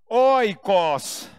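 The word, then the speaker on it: οἶκος: você não precisa guardar que se pronuncia Oi coci essa palavra significa casa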